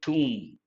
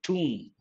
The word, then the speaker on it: tomb: think of the word tomb be silent how is it pronounced tomb not tom to have a very